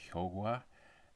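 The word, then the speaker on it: 효과: Like, you have a word like hyokwa, and technically it should be pronounced hyogwa, and so announcers, they kind of relearn a lot of their pronunciation so they can get it just right. So that's why you'll hear like hyogwa chogoro, but nobody says that in real life. They say hyokwa.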